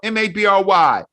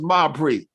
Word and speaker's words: Mabry: correct g-i-n-a-l-d-m-a-b-r-y right right my name is mabry we don't call ourselves marbury realizing i'm crazy as